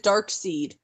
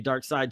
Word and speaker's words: Darkseid: right away Darkseid is darksied and I'm the first time I read it that's how I read it also okay dart seed nope it's supposed to be dark side so I had to relearn how to say it but for like the